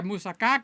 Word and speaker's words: moussaka: The moussaka, moussaka. That's how the Americans say it. It's moussaka. Moussaka. You got a ka at the end, okay? If you're not doing the ka, you're not doing it right.